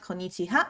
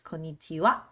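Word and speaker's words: こんにちは: little bit so again it's not konichiha it's konnichiwa then we have good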